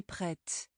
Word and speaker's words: prête: But I would say je suis prête, adding that E has changed the sound of the ending.